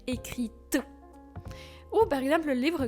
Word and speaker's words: écrites: intéressant un point phonétique on commence à prononcer la lettre t à la fin parce que sans accord c'est comme écrit les j'ai écrit mais avec l'accord c'est j'ai les lettres que j'ai écrites ou par exemple le